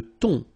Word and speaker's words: thon: Le thon. Remember, H here is not pronounced.